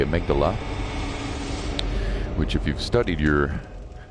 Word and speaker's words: Amygdala: the nightmare frontier and it's called amygdala according to patches anyway that's how it's pronounced obviously we've got some references to the part of the brain called the amygdala which if you've studied